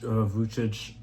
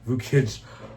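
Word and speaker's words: Vukić: But Yannik absolutely destroys Vuch Vuchic. I keep saying his name wrong. Vauich. Vukic.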